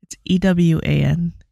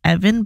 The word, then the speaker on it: Ewan: or EU in or something like that um e-w-a-n so when she first wrote that I was like yeah I was like is that are you sure it's not Evan but like you know with the list versus